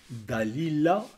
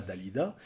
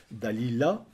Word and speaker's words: Dalila: par une certaine al il faut bien prononcer le nom Dalila et non pas Dalida Dalila qui veut connaître sa